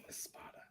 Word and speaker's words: Espada: Espada. Okay. That was what I was going to say. Or Espada. That's not what you were going to say. I was going to say Espada.